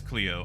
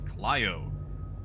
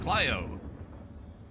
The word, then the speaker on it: Clio: can pronounce clio as cleo either way but the traditional greek pronunciation is clio and it's based off you know the the greek muse which was clyo a